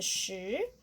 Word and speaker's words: shi: Because we know this is shu. We need to know this part. And this one, we need the he. It's shi.